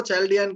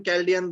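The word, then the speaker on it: Chaldean: हाँ बिल्कुल, प्रोनाउंसिएशन हम इसको चैल्डियन कैल्डियन दोनों ही बोलते हैं।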